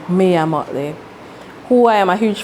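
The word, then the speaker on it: Mia Mottley: I mean, that the pre-interview you mentioned Maya Motley. Maya Motley. That the pre-interview, I believe. Mia Motley. Yes. Sorry, I pronounced it. Yeah, Mia Motley.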